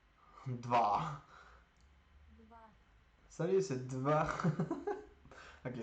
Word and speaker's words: два: Attends, comment ils prononcent ça? J'ai pas de son. Два. Dva.